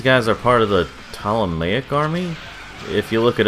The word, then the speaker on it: Ptolemaic: are part of the ptolemaic army if you look it up you're gonna have spell it with a p because the p is silent because English the boss